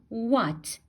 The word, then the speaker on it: what: h which is we it's silent here so we're gonna say what what okay second uh